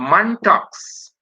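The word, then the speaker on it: Mantoux: at a person's lungs we could do a muntax skin test and let me spell that for you m a n t o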